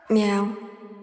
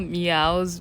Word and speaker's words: MEOVV: e oov v and like the VV I think it's supposed to be like a w and the way I've heard them pronounce it is like meow but I don't know